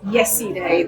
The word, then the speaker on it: Yeside: My name's Yeside. Okay. Is that loud enough? Yeah. My name's Yeside. And it's not yesterday. It's Yeside. That's pronounced like yesterday without the T.